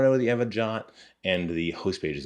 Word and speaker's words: JWT: server to get a jot back the jwt or json web token not sure is why it's pronounced jot as opposed to whatever but that's going to